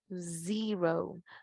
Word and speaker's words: zero: El número 0, zero, zero. ¿Se dan cuenta cómo el sonido de la O está largo?